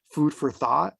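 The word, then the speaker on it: Food for Thot: today one of my favorite podcasts is called Food for Thought. I don't know, it's spelled THOT, and for queer multicultural writers.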